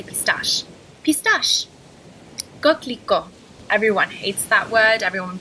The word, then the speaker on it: coquelicot: Coquelicot.